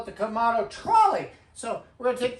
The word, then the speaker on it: Kamado: It's the Komado grill, right? Yes, you said it. Not the Komodo. Komado.